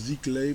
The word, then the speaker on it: Sziklai: Je crois que ça se prononce Zlay mais j'en suis pas sûr.